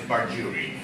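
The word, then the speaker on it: perjury: you be penalized for that the word is Pary Pary let me write the word here p e r j u r y Pary Pary all right the pronunciation of this word is parui so let's uh quickly make an example sentence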